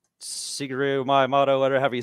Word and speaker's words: Miyamoto: Shigeru Miyamoto, whatever you say his name. Yeah, Miyamoto.